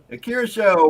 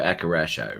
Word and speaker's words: Akirasho: Because I go Akarasho, right? How do you pronounce that? If it was Japanese, it'd be Akirasho. Akira Show. Kidisho. Right. Akirasho. It should sound like the waves of the ocean.